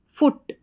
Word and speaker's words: फुट: एफ, एफ यानी कि फ, फ, फ के नीचे डबल ओ है तो छोटे ऊ की मात्रा और टी को ट, फुट।